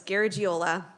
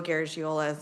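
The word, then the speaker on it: Garagiola: name very very close G giola so if you're familiar with Joe gariola same pronunciation as the baseball player so that's usually where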